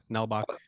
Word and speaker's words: Nalbach: dick did I say your name right yeah nelbach did I nail it Prett na it a